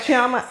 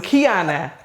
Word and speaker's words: Kiana: You don't like Chiama? I'm Kiana. You heard wrong. It's Kiana. What? And they're like, it has an M. And it sounds like an Pronounced N like in Igbo.